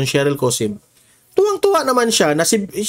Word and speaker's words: Sheryl Cosim: Ah yung pronunciation Shery Cosim.